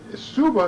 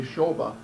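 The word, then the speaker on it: Šoba: Well, Suba is where it would be English, but when when when we I say Shoba, that's check pronunciation.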